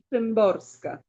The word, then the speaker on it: Szymborska: Y como apellido es Sembrosca.